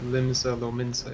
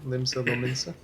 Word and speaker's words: Limsa Lominsa: You might actually be in the Limsa Lominsa area. Is that how that's pronounced? Yeah, I believe so. Limsa Lominsa.